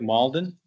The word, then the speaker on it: Malden: And now on to D, the appointment of Malden to the position of firefighter. Did I pronounce that correctly? Malden.